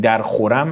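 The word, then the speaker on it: در خرم: Yeki nāmvar pāk khāligaram" this is very important the correct pronounciation is "dar khoram" but I read it as "dar kharam" for the sake of the rhyme "nāmvar pāk" means well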